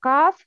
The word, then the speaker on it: ق: Tafkhim, the sound of letter qaf is heavy, always heavy.